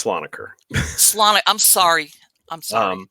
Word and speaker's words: Slonaker: you were asking uh about my surname it's saloner Salon I'm sorry I'm sorry I was trying to put the wrong whatever pronunciation saloner okay go ahead but um I no it